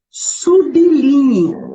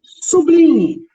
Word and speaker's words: sublinhe: verbo transitivo indireto ou sérgio exige preposição a pronúncia sim corretas e sublinhe muitas pessoas sublime não é é passar uma linha de 88